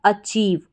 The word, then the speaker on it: achieve: तो पूरा बन गया अचीव।